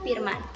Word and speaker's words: firman: Kita harus bisa membedakan beberapa huruf yang pengucapannya hampir sama. Misalnya pengucapan huruf F, V, dan P. Kata firman harus dilafalkan dengan firman, bukan firman.